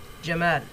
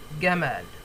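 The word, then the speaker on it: جمال: a man n called Jamal in Egyptian slang they would say it Gamal Gamal Jamal Gamal okay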